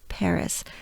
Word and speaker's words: Paris: one that would be right that's how we pronounce paris i stick a good breath by now here